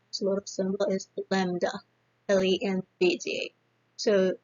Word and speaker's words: lambda: The pronunciation symbol is lambda, L-E-M-B-D-A.